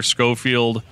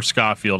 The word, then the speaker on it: Scofield: feel really bad but it's either scofield um or scott field i think it's scofield uh he passed away